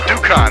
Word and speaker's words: Duccone: Dukan. That's how you pronounce that.